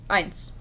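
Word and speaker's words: Ainz: gonna is is answered so just call him eins then if you spell it with an e instead of an a you still like just pronounce it eins normally and it means one in german so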